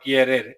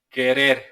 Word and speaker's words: querer: It's not querer, it's querer.